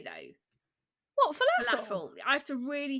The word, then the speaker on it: falafel: What, falafel? Falafel. I have to really think about it before I say it, because I think I want to say falafel. And it's like the pronunciation is on the fel.